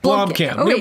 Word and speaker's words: Blomkamp: or blonde camp be LOM ka NP yeah Blomkamp LOM camp Oh guys I have to find